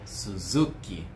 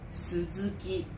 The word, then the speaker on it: Suzuki: Suzuki. Suzuki。 Então, nós temos uma clara tendência a acentuar a penúltima sílaba, né, das palavras de origem japonesa.